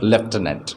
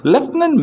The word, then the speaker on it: lieutenant: is a is a military rank okay it's pronounced as lieutenant okay lieutenant malay french climbing the first climbing first on